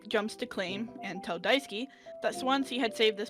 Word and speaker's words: Daisuke: I pronounce it Daisuke.